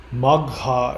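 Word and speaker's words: Magha: mach means great powerful maga is how it's pronounced in uh Sanskrit.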